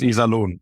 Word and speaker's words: Iserlohn: Kempes, you are from, I'm going to mispronounce this, Iserlohn, Germany. Yes, Iserlohn. No, it's good. It's Iserlohn.